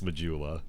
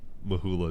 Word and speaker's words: Majula: I know how to pronounce Majula. Mahula is the joke.